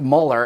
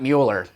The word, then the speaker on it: Mueller: department Robert Muller note there that that is pronounced Muller and not Mueller but when something's called a scientific poll nothing